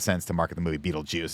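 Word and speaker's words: Betelgeuse: and I think that they spell it Beetle GE or however it is but it's supposed to be pronounced Beetle Juice and so I think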